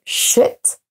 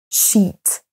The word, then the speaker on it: sheet: C'est la même chose pour shit, qui se traduit par merde, et sheet. Sheet, avec un i long qui se traduit par